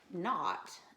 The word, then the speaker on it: knot: this word right here not is spelled KN ot and that K is silent and it refers to